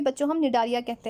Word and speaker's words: Cnidaria: सियोलेंट्राटा को ही बच्चों हम निडारिया कहते हैं। यहाँ पे ध्यान रखिएगा सी आपका साइलेंट होता है इन निडारिया।